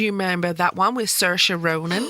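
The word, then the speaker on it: Saoirse: remember that one with sersa Ronan I always have to say her name like I'm in IR sersa Ronin which is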